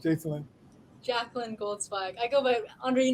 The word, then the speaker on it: Jacalyn Goldzweig: Jacalyn, what's the correct pronunciation, Jacalyn? Jacalyn Goldzweig.